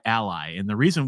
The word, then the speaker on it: ALLi: and we go by Ally so sometimes people pronounce it Ali we go by Ally and the reason we